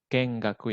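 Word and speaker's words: 見学: 1 月に 1 月に kojo Kojo Kojo mi kengaku ini bacanya. Kojo kengaku ga Kengaku ですね。 ya, kengaku ini bacanya.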